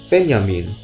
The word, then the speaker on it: Benjamin: of those three and pena mean which is the german pronunciation of Benjamin but we just called